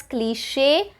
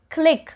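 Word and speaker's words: cliché: have the word cliche this word is pronounced as cliche and not click a lot of people are tempted to say click but it is cliche cliche next we have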